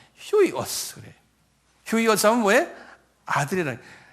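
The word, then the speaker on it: υἱός: 휴이오스 할 때 이렇게 점을 이렇게 찍어 놓으면 이게 H 발음돼요. 그래서 휴이오스. 그 유인데 점을 이렇게 찍어 놓으면 H 발음돼. 휴이오스 그래.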